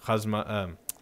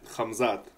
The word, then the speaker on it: Khamzat: that his golden boy or his guy in Khazma, you said it right. You said Khamzat? It right. Khamzat.